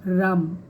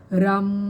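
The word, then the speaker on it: RAM: होता है yellow colour का और इसका जो उच्चारण होता है वह होता है आर ए एम राम ठीक है आपको कैसे बोलना है यहां पर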